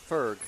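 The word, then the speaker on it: Förg: Forg is pronounced like birth. Ferg. No. And is that There's no O in birth. No. Is that Anastasia? Anastasia. So Ferg. Ferg. Well, it's an O umlaut, but I guess I don't know.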